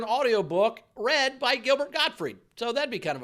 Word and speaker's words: Gottfried: pronounce god free and it's not godfrey it's god huh gottfried gilbert got free told